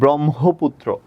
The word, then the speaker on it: ব্রহ্মপুত্র: ওকে, এটা যদি থাকে, হয়ম থাকলে কি হবে, ম হসন্ত হ, ব্রহ্ম, কিন্তু আমরা বলি ব্রহ্মপুত্র, ওকার উচ্চারণ করি ওই জন্য ওকার দিলাম, পুত্র পরশুকার দিলাম।